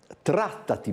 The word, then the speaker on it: Trattati: Con le nostre ospiti parleremo, come dicevo prima, di un'iniziativa che, tanto per come dire, metterci, si chiama Trattati bene, perché l'accento, desumo, va sulla prima A.